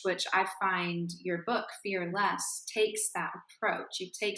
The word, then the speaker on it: Fear Less: sure first of all thank you for pronouncing the title correctly because people sometimes say fearless and I'm not fearless